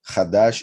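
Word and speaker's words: חדש: which comes from hadash same letters pronounced differently khadash is new khadesh is month because of the jewish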